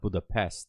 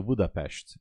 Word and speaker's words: Budapest: Actually, the way we pronounce it is not Budapest. So, not an S. You say ash. So, Budapestt is the proper pronunciation.